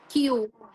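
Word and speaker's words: きゅう: ரெண்டுமே தெரிஞ்சுக்கணும் ஓகேவா நெக்ஸ்ட் எப்படி சொல்லுவோம் நெக்ஸ்ட் நன் கயூ கயூ இன்னொரு வர்டு கூ ஓகே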